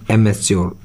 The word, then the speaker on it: amateur: एमेच्योर, AMATEUR, एमेच्योर। आर को वैसे pronounce नहीं किया जाता, एमेच्योर।